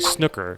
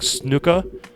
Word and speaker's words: snooker: letting us know that it wasn't actually pronounced snooker because that's how people in the United States pronounce it actually pronounced isn't it like officially it's supposed to be like snooka uh what is